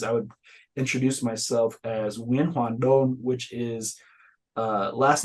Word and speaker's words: Nguyen: It is pronounced when uh you say it in Vietnamese, I would introduce myself as winon, which is uh last name first, middle name,